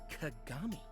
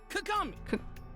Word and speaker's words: Kagami: Sorry, what was the pronunciation of that? Kagami. K. It's Kagami. Sorry, you said that kind of loud. Can you say it again? Just like a little slower. Kagami. Okay. Sorry. Was it Kagam?